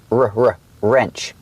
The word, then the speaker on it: wrench: Remember the word wrench, the W is silent. So, it's pronounced with the R sound first, r r wrench.